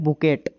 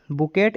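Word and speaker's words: bouquet: तो गुब्बारे के समूह को कहते हैं बुकेट। बुकेट इसको पढ़ता नहीं है, वैसे हम बुके पढ़ते हैं इसको, लेकिन इसकी स्पेलिंग बुकेट होती है, तो आपको याद रहेगी बुके। इस प्रकार से इसको पढ़ते हैं।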